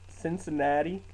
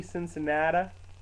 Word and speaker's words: Cincinnati: since cincinnati there apparently since anatta people from your own state don't know how to say it remember that show living on the air in cincinnati cincinnati WKRP yeah its Cincinnati not since that up but if you're